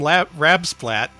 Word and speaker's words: Rabspat: Up next from Rabspat. That's how that name is pronounced.